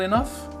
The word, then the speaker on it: enough: Off, vous avez vu que je prononce ça comme un F. Is that not enough?